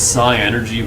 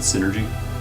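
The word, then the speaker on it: Psynergy: Also, I think it's psi energy, but I always pronounce it synergy, just because it's easier.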